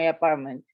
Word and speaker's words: apartment: I will start a new task tomorrow where I work at my apartment. Very nice. Don't forget the apartment. Apartment. There's a T hidden in the middle there.